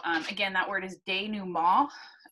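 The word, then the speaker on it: dénouement: again that word is day new mall it's a french word i know it looks like it reads denouement but uh it is not pronounced that way um so what i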